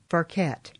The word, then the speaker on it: Ferket: Her name is Ferket, and she's lived... No, I mispronounced that, didn't I? It's Ferket, right? That's right.